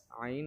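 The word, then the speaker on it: عين: আইন বলার সময় আপনারা গলার মাঝখানে হালকা পুশ করবেন। তাহলে আইনটা সুন্দর উচ্চারণ হবে।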